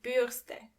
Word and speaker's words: Bürste: And remember, you don't pronounce the R as R, but more like R. So the word is die Bürste.